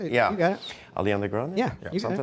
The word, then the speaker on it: Ariana Grande: like, have a hard time saying her name, Ariana Grande, is that how you say it? That's right, you got it. Ariana Grande?